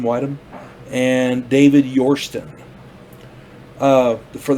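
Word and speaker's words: Widom: their name set properly uh bud wydom w-i-d-o-m whidham whiteham and david yorstan uh for the standout i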